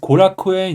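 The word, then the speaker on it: 後楽園: 산 조메라 있습니다 22번은 고라쿠엔 있니다 그래서 요미 카타를 읽으면 코라쿠엔이라고 읽을 수 있습니다 그래서 한 절을 분석해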